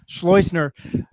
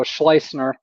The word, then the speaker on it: Schleusner: He is UNM offensive co coordinator Luke Schlloer.